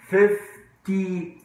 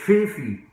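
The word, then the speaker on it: fifty: خاصة 15 طب وخمسين فيفتي فيفتي مش فيفي مفيش ده هنطق التي ما بنقولش فيفي يعني ده فوري لكن ده مش هينفع ان انا منطقش التي ده 50 يقول لك 50 50 نص نص نص ونص لكن مفيش فيفي دي ده بنطق التي اساسي اوكي.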